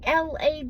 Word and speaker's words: lawyer: the last few weeks that the word L-A-W-Y-E-R is pronounced lawyer. Lawyer. That it's not lawyer. We in the South mostly pronounce it lawyer. Because L-A-W is pronounced law. You don't pronounce it loy. You're not like, what's the loy on that? So why do you pronounce lawyer, lawyer?